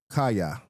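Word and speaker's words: קיא: So this would be, I would pronounce it according to the discipline I learned, kaya.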